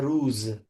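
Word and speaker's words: روز: हाँ, फारसी में अगर आप पढ़ें तो उनका जो प्रोनाउंसिएशन है उसी के हिसाब से पढ़ें, रूज बोलें। हम्म। और अगर उर्दू में पढ़ रहे हैं तो रोज कहा जाता है, शब रोज, हम्म।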